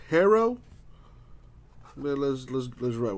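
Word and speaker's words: Herro: here tyler hero baby although it's pronounced hero well let's let's let's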